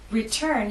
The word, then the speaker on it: return: Return has two syllables, but it's the second syllable that is stressed. T is at the start of that syllable, so we say return.